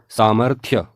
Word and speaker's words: सामर्थ्य: और इसका उच्चारण होगा कड़ाही अगली वर्तनी है सामर्थ्य जबकि आप देख पा रहेंगे यहां पर लिखा है सामर्थ तो यह अशुद्ध वर्तनी है अशुद्ध प्रयोग है जबकि शुद्ध प्रयोग होगा सामर्थ्य सामर्थ्य आइए आगे बढ़ते हैं अगली वर्तनी है